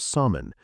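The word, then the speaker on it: Samhain: Most people knew it from the old Celtic tradition of salmon, pronounced, of course, nothing like it looks.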